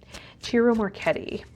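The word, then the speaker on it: Ciro Marchetti: Jiro Marchetti Jiro Marchetti I've mispronounced his name in the past in readings but it's Italian I should know better I studied opera I am Italian I should have known cheerio Marchetti and if that's wrong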